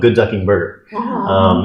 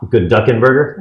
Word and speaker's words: Good Ducking Burger: And we are changing it over to Good Ducking Burger. It's funny, you said your bakery Okay, is you're saying it wrong. Good Ducking Burger? Yes. Okay. The emphasis is on ducking.